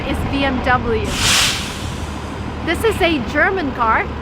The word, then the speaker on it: BMW: a German car and in Germany you would say BM back but if you're in America and you want to sound American its BMW and no other options BMW I have a